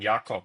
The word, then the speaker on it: Jacob: from Germany originally so your pronunciation was actually spot on yakob that's how you would say my my last name in in German so well done um